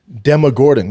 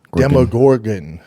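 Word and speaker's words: Demogorgon: This is a stupid way to judge things, but Demogordon. Yeah. Gorgon. Demogorgan.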